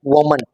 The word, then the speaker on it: woman: This is not woman, it is pronounced as woman.